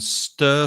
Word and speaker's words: stir: at the same time that pronunciation is quite tricky sometimes stir it's a very long sound uh like turn or l or burn stir you stir your tea